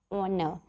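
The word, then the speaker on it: honour: आई ओ यू, और with a mute H, और जैसे कि एच जैसे कि ऑनर.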